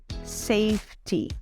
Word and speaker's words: safety: Safety. A palavra safety termina com a letra Y. Quando nós temos palavras que terminam com a letra Y, nós pronunciamos o som da letra I. Safety.